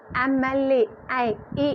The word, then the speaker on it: MLA: शी इज़ एन MLA, ए से start हो रहा है, इसलिए हमारा यहाँ पे MLA लगा है।